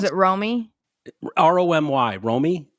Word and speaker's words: Romy: Oh, is it Romy? R-O-M-Y. Romy? Yeah, Romy. Like, what was it? Romy and Michelle's Wedding or something? Romy and Michelle's High School Reunion.